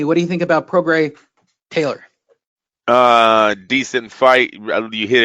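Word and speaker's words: Prograis: But Progress versus Taylor, Andrew, unification. Progray. I don't think you pronounce the S, as my friend keeps I'm sure it's telling me from Louisiana.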